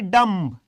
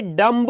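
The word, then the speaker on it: dumb: फिर नेक्स्ट है डम्ब। अब देखो यहां पर एक वर्ड सुनो, ये डम्ब नहीं होता, ये क्या होता है? खाली डम। इसका बी जो है ये साइलेंट होता है।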